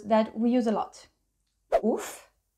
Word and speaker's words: ouf: Ouf, being the Verlan of fou. What you do is that you will split it in, well, here too, because it is a very short word. What you do for Verlan is that you switch them and you obtain, ouf.